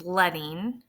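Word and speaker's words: leading: rather than points letting and that's how we pronounce it is letting is the amount of space between the lines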